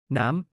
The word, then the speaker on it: น้ำ: น้ำ น้ำ 남처럼 발음은 모든 종류의 액체를 명명하는 데 사용됩니다.